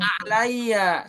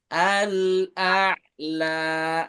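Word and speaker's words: الْأَعْلَىٰ: Bukan Oh, al-a'la, tapi al-a'la.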